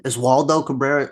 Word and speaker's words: Oswaldo Cabrera: When Oswaldo Cabrera, I don't even know, is that how you say his name? Oswaldo Cabrera? Yeah, Oswaldo Cabrera.